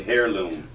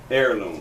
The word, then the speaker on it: heirloom: lose it's a family hair loom and uh is that how you say that hair look heirloom that's how you spell